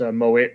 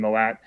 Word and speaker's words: Mowat: yes uh moet it's pronounced mo it rather than molat and uh breakfast was